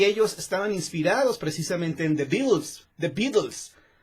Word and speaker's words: Beatles: Y ellos estaban inspirados precisamente en The Beatles, o acá en México se pronuncia The Beatles, los Beatles. Pero creo que su pronunciación correcta es Beatles.